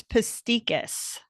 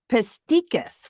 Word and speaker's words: Pestikas: give me the actual pronunciation of your last name. It's Pestikas. Pestikas, which I love.